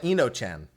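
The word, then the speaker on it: Enochian: I don't know how to pronounce that. We call it Enochan.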